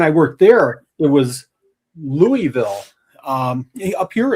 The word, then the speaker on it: Louisville: Louisville. Did I say it the right You way? did. I'm so proud of you. You got to cut out like half the syllables.